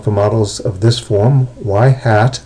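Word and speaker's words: ŷ: models of this form y hat that's the way that's pronounced is equal to B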